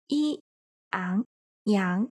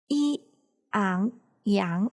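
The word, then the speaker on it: 杨: And character Yang follows the second tone, so it is pronounced as E, Ang, Yang. If you would like to, you can follow me. Yi, Ang, Yang. Yi, Ang, Yang.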